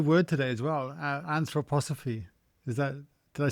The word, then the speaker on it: anthroposophy: Uh, anthroposophy.